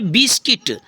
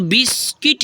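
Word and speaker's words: biscuit: होता है देखो जैसे बिस्किट तो बिस्किट इसको बिस्कुट कहेंगे कुछ बच्चे इसको बिस्कुट कहते हैं वो गलत है कुछ बच्चे इसको क्या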